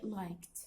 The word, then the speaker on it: liked: If the last two letters, okay, end with E, then E is silent. We don't pronounce E. So it will be liked.